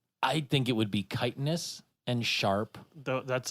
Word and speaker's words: chitin: of it in Skyrim it's spelled chitin but it's chitin yeah it's like feces